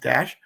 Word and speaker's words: DACH: It's pronounced Dash, but it's spelled DACH Comics, as in Dachshund, because my mascot is